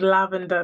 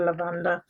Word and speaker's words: lavender: way I pronounce things it's lavender not lavander lavender right this one's pretty